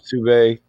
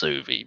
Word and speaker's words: Suvi: It's pronounced Suvi, but appreciate it. Suve. Yep. Is that a steak? A Suve steak? Well, it's Suvi. Suvi steak?